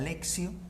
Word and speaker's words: lectio: Me salteo todo lo primero que es la lectura, que es la lectio, así se pronuncia.